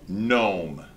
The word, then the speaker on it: gnome: right I have one identify the silent letters in the following words and explain why they might be necessary oh God gnome good gnome right so why is the gene necessary in Gnome oh I don't know